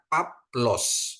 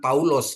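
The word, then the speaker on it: Παῦλος: Jadi bacanya dia Paplos bukan Paulos gitu ya, Paplos gitu ya.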